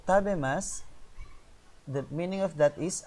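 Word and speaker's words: 食べます: That's masu. But if you pronounce it, that is sakana o tabemas.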